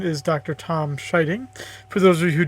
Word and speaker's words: Scheiding: Tom Scheiding. For those of you who don't know me, my last name is pronounced like someone being shy and then the sound of a bell ding, so Scheiding.